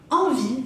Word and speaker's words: envie: Envie, avoir envie, tener ganas, avoir envie, se termina con una E, pero no digo envie, porque las E finales no las pronunciamos.